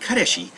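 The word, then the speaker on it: 彼氏: or kareshi, but yeah, it's more like kareshi, so more like ka instead of car.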